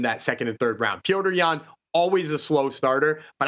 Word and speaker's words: Petr Yan: Petr Yan, always a slow starter, but I actually think this is a really great spot to find a Petr Yan KO prop.